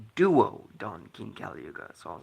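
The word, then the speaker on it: Duo-Dawn King Kali Yuga: heard this card's name, a friend of mine mispronounced it, and I always thought it was Dao Don King Caluga. And then I heard the anime, and it was like, oh, it's Duo Don King Caluga.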